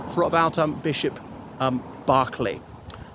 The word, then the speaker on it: Berkeley: I know it looks like Berkeley, but pronounced Barkley.